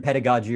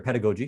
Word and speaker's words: pedagogy: older version of western pedagogy or pedagogy depending on your pronunciation is that it's all